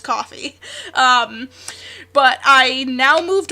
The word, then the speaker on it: Ko-fi: a little bit differently it's like the buy me a coffee so it's probably coffee it's probably pronounced coffee um but I now